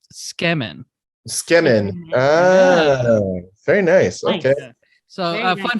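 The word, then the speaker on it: つけ麺: So a lot of people pronounce it Sukumen, but it's actually pronounced Skemen.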